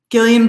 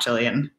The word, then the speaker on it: Gillian: incredibly, incredibly hard to say her name as Gillian, not Jillian.